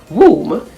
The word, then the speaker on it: womb: some silent letter rules we don't usually pronounce the letter b in a word if it is after m at the end of a word such as in the words bomb b-o-m-b comb c-o-m-b to t-o-m-b crumb c-r-u-m-b circum s-u-c-c umb womb w-o-m-b however when n b